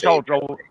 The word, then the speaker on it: Hochul: So that's her name is Hochul. That's how you pronounce it.